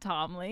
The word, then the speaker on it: Ptolemy: a P sounds familiar but I think it's a silent P it's p-t-o-l-e-m-y probably my mind immediately went Timely anyway king of Egypt